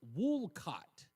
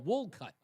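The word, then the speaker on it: Wolcott: going to live here it's pronounced wool cut or wool cut.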